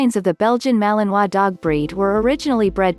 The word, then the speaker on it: Malinois: more about this breed the Belgian Malinois pronounced Malinois is a medium-sized Belgian